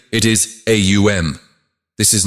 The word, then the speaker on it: AUM: It explains that Om is actually composed of three distinct phonetic sounds, A, U, and M. When you pronounce it correctly, it is AUM.